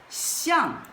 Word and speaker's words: 向: It pronounced as xiàng, which means appearance.